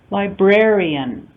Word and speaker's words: librarian: So we see the stress on the word library, first syllable stress, changing to second syllable stress with the addition of IAN. Library, librarian.